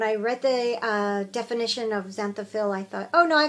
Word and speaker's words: xanthophyll: members of the group had been knitting these xanthophil socks. Try saying that 5 times fast too. It's spelled with an X. Xanthophyll.